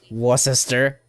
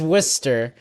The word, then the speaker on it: Worcester: live in Massachusetts well people was Worchester no it's actually Worcester I remember this oh yeah it's Worster and then guess what